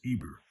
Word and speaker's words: Heber: The Hebrews are called after Heber, pronounced Eber, their great father, from whom all the Hebrews descended.